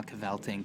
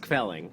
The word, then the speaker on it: kvelling: well, if you want some more kvelting, come and just give me a ring." It's pronounced kvelling. Kvelling, Yes, excuse me.